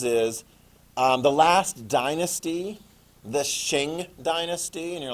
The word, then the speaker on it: Qing: How do you pronounce that? Xi. And QING, the last dynasty, the Manchu dynasty, it's also known as the Qing dynasty.